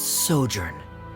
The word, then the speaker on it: sojourn: Director Zosimos, how do you pronounce this word? Let me see. Ah, that's sojourn.